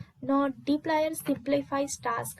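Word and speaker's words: dplyr: data manipulation with dply r I print personally pronounce it deep layer package now d stands for data frame that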